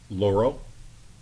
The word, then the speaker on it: Laurel: Laurel right Laurel okay Laurel rhymes with non-corporeal oh my God I